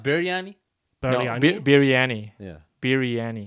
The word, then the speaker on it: biryani: it's proper- BIR, right? Biryani. Yeah, Biryani. yeah. Biryani. Biryani. Yeah, I exactly. I just said it correctly. Yes. Yeah. Okay. Yes. yeah, yeah, But you then, said it right. wait, I think my parents, because of Malaysian thing, they call it brani.